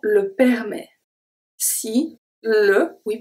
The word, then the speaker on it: permet: Si le temps le permet. Si le, we pronounce everything. Temps, temps. Then we have the P and we have the S that are silent. Le permet. Permet. The T is silent.